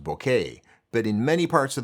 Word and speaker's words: bokeh: It's actually a Japanese word pronounced bokeh, but in many parts of the world it's pronounced bokeh.